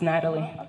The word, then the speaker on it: Nathalie: go ahead thank you you pronounced my name correctly it's Natalie Natalie Natalie yes thank